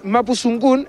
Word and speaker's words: Mapuzugun: Talleres Mapu Tsungun, es Mapu Tsungun con Z, no es Mapu Tsungun como lo vemos generalmente, sino que es Mapu Tsungun, como se pronuncia, .com.